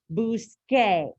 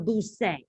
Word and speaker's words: busque: Same thing for a car verb, right? Buscar, busque. If we put the C in there, we have busse.